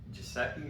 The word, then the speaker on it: Gesicki: Also, I want to say, not a lot of people own Gesicki.